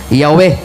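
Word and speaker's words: Yahweh: basaho nangayo sa encyclopedia the true pronunciation of the name yh was never lost several several early greek writers of the christian church testify that the name was pronounced Yahwe sa wa pa ni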